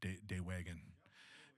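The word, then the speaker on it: dewe'igan: And when we talked up there, I asked you the proper pronunciation. You said day wagon, which means in Anishinaabe, it doesn't just mean drum.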